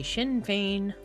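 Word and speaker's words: Sinn Féin: party in Ireland but because it is Gaelic we say shinfane I think but we spell it like this. Okay.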